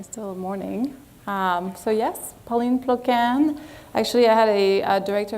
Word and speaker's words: Ploquin: to pronounce my name it's pauline plokan like yes she can get it don't look at the way it's spelled right so um today i